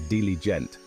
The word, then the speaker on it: diligent: that's a diligent learner we pronounce it as diligent with the emphasis on the second syllable you can use it